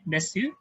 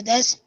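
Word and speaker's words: です: For des, we don't say it desu, it's des.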